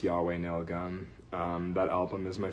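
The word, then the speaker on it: YHWH Nail Gun: It's by a band that's spelled Y HWH Nail Gun I believe is pronounced Yahweh Nail Gun.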